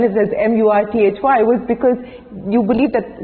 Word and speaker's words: Murthy: So when I said T-H-Y, I said that is Th.